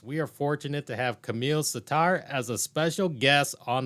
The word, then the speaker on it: Kamil Sattar: And I want to make sure I'm pronouncing your name correctly. So Kamil Sattar.